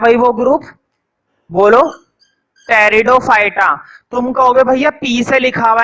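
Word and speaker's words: Pteridophyta: है वह ग्रुप बोलो टेरिडोफाइटा तुमको भैया पीछे लिखा हुआ है मैं बोलूंगा कि आप इस आयरलैंड है इसमें पीछे क्या है साइलेंट है इसको हम पढ़ते हैं टेरिडोफाइटा पीठ की आवाज नहीं आती है क्योंकि यह माना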